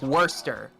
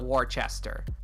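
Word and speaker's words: Worcester: sounds and the words and the way we pronounce like worster like okay you're gonna have to explain to everybody that wurster is pronounced that way i'm not warchester yeah i do but it's not fun of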